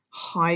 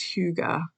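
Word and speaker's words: hygge: Samantha from the um I always always the pronunciation always gets me because I want to say Hai and it's not it's Huga h y g g e but it's Huga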